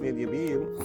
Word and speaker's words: زنجبيل: أول شيء زنجبيل، It's pronounced Nidyabil.